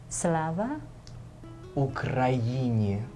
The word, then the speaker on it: Slava Ukraini: Slava. Ukraini. Ukraini. Perfect. What's that Slava Ukraini means glory to Ukraine.